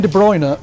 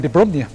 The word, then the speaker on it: De Bruyne: Kevin De Bruyne, or to use Jonathan Pierce's pronunciation, Kevin De Bruyne. He's sticking with it. It sounds like a Baltic holiday destination.